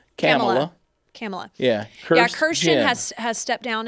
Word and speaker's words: Kamala: It's spelled Kirstjen. Kirstjen. Kirstjen. That's the way you say it. Like Kamala Harris, not Kamala. Kamala.